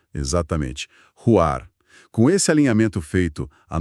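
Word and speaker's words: רוח: E o espírito, que pronunciamos Ruar. Exatamente, Ruar.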